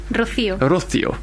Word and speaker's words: Rocío: Rocío.